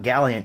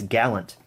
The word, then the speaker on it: Gallant: can say it right it's not galleon it's gallant thank you to the